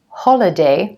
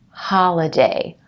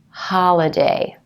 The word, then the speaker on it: holiday: to pronounce it as holiday more like an O but in American English it's going to be an AH holiday holiday and if you need